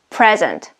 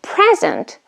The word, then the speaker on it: present: the key is here if the word is used as a verb we put the stress on the second syllable if the word is